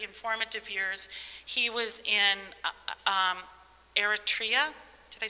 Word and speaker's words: Eritrea: which are pretty informative years he was in eritrea did i say it right yes during from